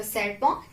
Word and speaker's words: serpent: So serpent, T, we will not pronounce.